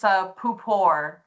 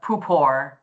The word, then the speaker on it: Pupor: It's Pupor. So I'm from upstate New York. There's a lot of us up there, but Pupor.